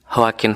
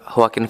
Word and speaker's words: Joaquin: Filmnya Joaquin Phoenix. Bener ya? Jadi bacanya H ya? Atau Joaquin Phoenix.